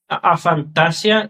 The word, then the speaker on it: aphantasia: It's aphantasia, like something like that.